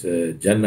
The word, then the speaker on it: Jannah: He said, you know, he said your point is valid in the sense that yes, Jannah is Jannah, it's not Ganna.